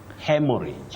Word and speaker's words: haemorrhage: Hemorrhage.